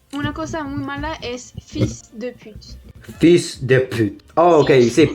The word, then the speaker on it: fils de pute: Pero si quieres una cosa muy mala es fils de pute. Fils de pute. Oh, ok, sí, como puta, ¿no? Hijo de puta. Sí, sí, ich de Es put. muy común. Ich de put.